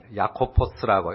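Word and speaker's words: Ἰάκωβος: 이제 헬라어 성경에 보면 야코포스라고, 헬라어 그대로 읽으면 야코포스입니다. 근데 영어로는 이 이름을 제임스라고 했어요. 영어식의 제임스보다는 우리말의 번역 야고보가 원래 헬라어 성경 원문의 발음에는 훨씬 더 가깝습니다.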